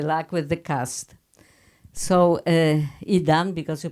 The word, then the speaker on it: Idan: So Idan, because you pronounce Idan.